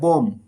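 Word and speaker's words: bomb: উচ্চারণ করি না যেমন এখানে বম B plus M plus B আছে এখানে এম থাকার কারণে এখানে বি এর উচ্চারণ হবে না বম মানে বোমা যেমন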